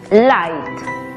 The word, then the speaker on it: light: ht aplicando la regla la gh es muda y la y toma su sonido abierto por lo tanto la pronunciación es light ahora hablemos de la